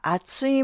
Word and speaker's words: 厚い: video, but now listen carefully to how the pronunciation changes. When you're talking about something thick, you say kore wa atsui mono desu.